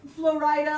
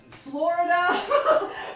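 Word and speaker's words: Flo Rida: Well, it's Florida. Like you can say it at the same time. It's two equal stresses. Florida, Florida.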